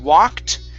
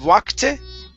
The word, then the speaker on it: walked: feet were blocked so we're looking at walked instead of wakate and it's walked in